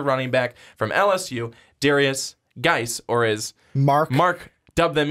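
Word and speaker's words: Guice: He just likes calling him Darius Juice because it looks like juice. I'm not going to lie. You could say it like that. You could. And get away with it. And people wouldn't think that you're like crazy. It's just the silent U.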